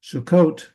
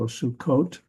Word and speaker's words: Sukkot: So Sukkot. Notice that we spell it with 2 Ks in English, and that is due to this dagesh in the kaf there, Sukkot.